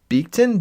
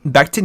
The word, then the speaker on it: Becton: Honestly, I would draft the guy out of Louisville, the big time offensive tackle, Mika Beekton. Beekton's how you say it? Becton.